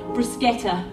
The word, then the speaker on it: bruschetta: We'll cross eyes over a crowded cafe as he explains to the waitress that no, it's actually pronounced bruschetta.